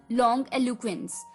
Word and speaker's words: longiloquence: LONGILOQUENCE, लॉन्ग एलुक्वेंस, लॉन्ग एलुक्वेंस। इसकी pronunciation है लॉन्ग एलुक्वेंस, LONGILOQUENCE, लॉन्ग एलुक्वेंस।